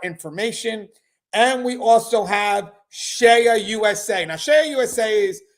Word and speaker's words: CEIA: And we also have Shea USA.